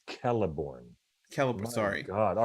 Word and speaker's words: Celeborn: a lot of a's it's pronounced kelliborn caliber sorry god all